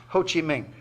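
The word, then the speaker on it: Ho Chi Minh: who was that man hoochi Min or is it is pronounced in some parts of Vietnam as I discovered hoochi mink America's principal Nemesis throughout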